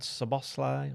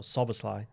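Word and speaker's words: Szoboszlai: We've got one from Barry McGloin who says, "Do Frimpong and Sabosi or Suslai as you actually pronounce his name?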